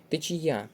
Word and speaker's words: течія: слоломинка правильно наголошене слово течія правильно на третій склад наголос правильно і цемент наголос